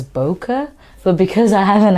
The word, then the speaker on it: bokeh: going to talk about bouquet so today we're going to talk about bouquet it is actually a Japanese word pronounced as bokeh but because I have